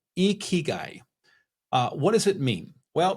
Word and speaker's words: ikigai: The Japanese word is spelled Ikigai, and the pronunciation is Ikigai. Ikigai.